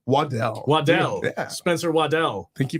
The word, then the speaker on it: Waddell: Spencer how do you say your last name waddle Waddell Waddell Spencer Waddell thank you for having me